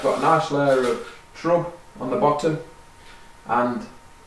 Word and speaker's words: trub: A nice layer of trub forming on the bottom. I say trub, some people say trube. It's more the Americans say trube, but think trub and pub. That's what it should be. You know, trub, you go drinking in a pub.